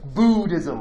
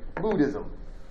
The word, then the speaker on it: Buddhism: Most people call it, I hear like the Buddhism, like it's scary. Buddhism. It really should be pronounced more like Buddhism, but that's neither here nor there.